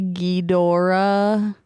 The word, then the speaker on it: Ghidorah: You said it wrong. You're supposed to say Ghidorah.